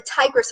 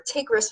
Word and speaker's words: Tigris: where this is now we know the tigris are takerus whatever way you want whichever way you pronounce it and euphrates river they